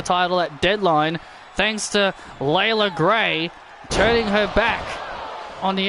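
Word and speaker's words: Leila Grey: ] Jade Cargill yeah I've been pronouncing her name as Leela gray and after watching one of her matches they pronounce it as Layla they actually pronounce it as Layla Gray which doesn't make sense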